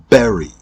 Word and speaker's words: berry: For example, the words very and berry. Both of these words are pronounced exactly the same, except for the beginning consonant sounds.